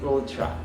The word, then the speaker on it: ultra: pneumonou pneumono second is ultra Ultra it's not Ultra it's Ultra notice the schwas on the first and second syllables ultra microscopic microscopic silicone